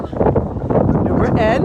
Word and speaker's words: New Britain: New Britain, if you live here. That's how you say it.